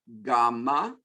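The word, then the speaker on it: γάμμα: Alpha, beta, gamma. This is our G sound, G. Never J, J. Sometimes G is in George in English. We never have that sound in Greek.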